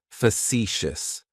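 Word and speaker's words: facetious: Facitious has three syllables and the stress is on that second syllable. It's like you're just saying the letter C for C. That first syllable has that schwah, that uh sound.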